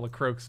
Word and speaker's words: LaCroix: for you probably drink Lacroix still I think that would be okay it's pronounced like croaks you know anything about la croaks do you are you